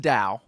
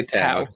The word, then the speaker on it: Tao: a legendary place called Tao. which should be pronounced Dao. Yeah, it should be pronounced Dao. Yeah, but everyone in the movies other than Ming, they all say Tao.